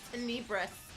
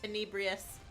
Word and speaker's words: Tenebrous: It's Tenebrous. I keep Tenebrous. saying Tenebrious. Oh. Tenebrous. There's a character in an RPG called Tales of Symphonia Dawn of the New World. And they have a like panther-like companion called Tenebrae. Well, that's what I initially thought it was when they first joined us, was Tenebrae. Mm-hmm. But it's the Latin pronunciation, so each like I got you. letter is pronounced.